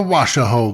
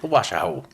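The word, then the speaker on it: Washoe: ghost adventure trip to the Washo the waso club for those of you that don't know how to pronounce it like me waso waso so it's coming up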